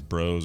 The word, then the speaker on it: Bros.: or not bros with a period should be pronounced as bros or brothers. And I say brothers, people say bros, course.